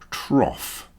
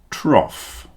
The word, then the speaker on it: trough: The long container which you put the pig's food in is called a trough. Cough, trough. The next group are pronounced O.